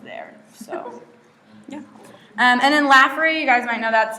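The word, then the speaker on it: Lafferre: And then Laffery, you guys might know that's the engineering school. It is pronounced Laffery.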